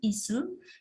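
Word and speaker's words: いす: Jadi pengucapannya itu isu.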